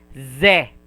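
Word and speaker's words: ぜ: And right here, it is pronounced se, but it will, if you put 1010, it will pronounce as ze, ze.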